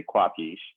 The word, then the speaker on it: Kwap: I tell them typically I say it's pronounced like capish which is the Italian word for do understand but I say quap and so with my